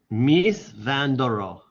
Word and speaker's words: Mies van der Rohe: Mies van der Rohe.